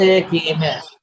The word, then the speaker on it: قیمه: خورشت قیمه. Calf is خورشت slightly, خیمه see the calf is slightly pronounced like a GH.